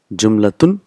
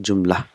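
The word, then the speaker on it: جملة: Jumlatun, but we will pronounce it jumla. So last letter is not pronounced.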